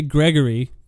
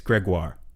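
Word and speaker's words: Grégoire: Uh, I'm going to say Gregory. It's probably pronounced a lot more French than this.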